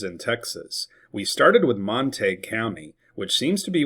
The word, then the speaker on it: Montague: previous video we had on Monte County saying that it was illiterate to call it Monte, but there are other English words such as vague, intrigue, and league, which have similar sounds. We don't pronounce those words, vagu, intrigu, and liu.